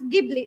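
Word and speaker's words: Ghibli: So emergence of studio it there are some pronouns it origin jibli it from Italy word and in Japanese they said jibli but in Australian they pronounce gibli so there are two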